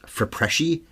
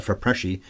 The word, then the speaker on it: FIPRESCI: This movie got no Oscar nominations, but won the, I think it's pronounced Fipresci, F-I-P-R-E-S-C-I, all in capitals, at the Cannes Film Festival.